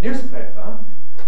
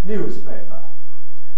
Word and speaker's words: newspaper: of news plus paper so you might expect it to be pronounced newspaper my pronunciation is unusual in that it isn't newspaper but newspaper and that's clearly irregular so i asked people do they prefer newspaper or newspaper and you could see